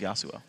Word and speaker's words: Yasuo: one final question actually how many more times do you mispronounce yasuo yasuo yosu okay yosu there we go you're pronouncing wrong it's yosu all right guys thank